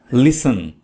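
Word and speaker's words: listen: लिसन, लिसन में T silent है, टी को नहीं पढ़ना है, तो लिसन का मतलब होता है सुनना।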